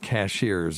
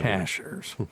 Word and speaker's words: Cashiers: up in Cashers North Carolina mhm it's not cashiers if you say cashiers we know you're a from around here you're a a tourist right it's Cashers so if you ever want to go there